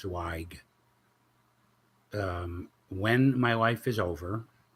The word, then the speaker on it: Zweig: And my last name is Zweig. It's pronounced Zweig.